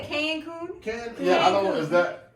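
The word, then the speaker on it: Cancún: Oh, so you say Cancun?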